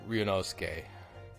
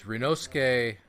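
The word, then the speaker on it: Ryūnosuke: like that and uh it's actually riunosuke because uh Japanese the Japanese language does not have vowels I think it's more uh I think it's more syllable based so they don't have the silent E that that modifies the preceding vowel so it's uh it's rinosuke naruhodo um enough of a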